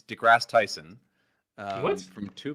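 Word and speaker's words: deGrasse: I am right it's degrass Tyson uh what from two people what am I wrong Neo degrass Tyson pronunciation degrass um or in UK degross um and then jcat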